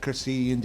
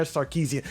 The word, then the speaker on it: Sarkeesian: Was it Carcesian days? Anna. I can't even pronounce her name. Anna Sarkeesian.